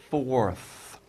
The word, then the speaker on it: forth: fourth by the way that might be hard to pronounce f f F forth and then R right and th forth forth okay so what he's